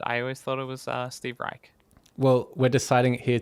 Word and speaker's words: Reich: Steve Reich? How do you say it? Steve Reich. Steve It's- Reich. Why did I think it's it was Reich. Reich? Anyway, Some Steven. people say it differently.